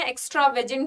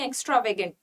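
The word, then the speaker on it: extravagant: लेकिन एक्स्ट्रावेगेंट में जी का साउंड नहीं आएगा, एक्स्ट्रावेगेंट, ठीक है। क्लियर। प्रोनाउंसिएशन पे ध्यान देना, एक्स्ट्रावेजेंट नहीं, एक्स्ट्रावेगेंट।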